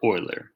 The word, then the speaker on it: Euler: E is for Euler. It's pronounced like Euler, don't ever forget. You'll hear others often call him Euler like Bueller, but that's in fact wrong.